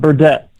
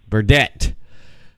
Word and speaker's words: Burdette: that before we live suck it no good Burdett Burdett welcome to the air release show podcast how